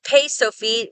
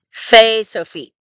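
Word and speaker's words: Fe Sofit: Pei has a Sophite form, but because it always sounds like an F, we don't call it Pei Sophite, we call it Fe Sophite.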